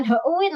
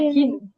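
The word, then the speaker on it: 흰: Jadi bukan heuin loh ya. Bacanya hin.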